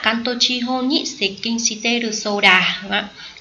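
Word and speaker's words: 接近: Chữ tiếp và chữ cận đọc theo âm ông là xịch kinh, đúng không?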